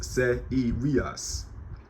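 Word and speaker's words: Σείριος: In ancient Greek, I believe in classical Greek, it's pronounced Seirios.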